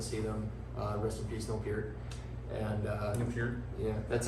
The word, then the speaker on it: Neil Peart: Rest in peace, Neil Peart.